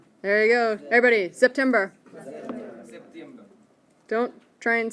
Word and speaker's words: September: The next one, the S you pronounce like a Z. There you go. Everybody, September.